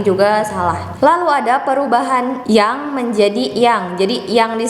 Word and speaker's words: Jang: salah Lalu ada perubahan yang menjadi yang jadi yang di sini itu pakai j huruf y-nya Karena itu adalah ejaan lama jadi ditulisnya Jang tapi dibacanya Tetap Yang tapi ini salah ya